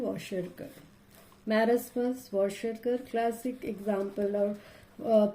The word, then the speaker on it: Kwashiorkor: K is silent, Kwashiorkor.